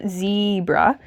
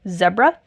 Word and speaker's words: zebra: Anyway, the word zebra traditionally is pronounced with a long initial letter, zebra, but of course 20th century pronunciation is insane, and we have the British English and the American English of zebra and zebra. Pronounce it as you please, because it is a local and dialect thing.